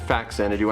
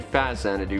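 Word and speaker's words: Faxanadu: of fazzanido uh i i typically pronounce it fac santa do i know a lot of people do it's actually faz zana xanadu because it's a portmanteau of famicom and xanadu because it's a famicom version of xanadu really uh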